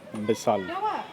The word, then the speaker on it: Vishal: So here in Bengali, whatever is ver becomes ber, like Vishal becomes Bisal. So the pronunciation is a little different.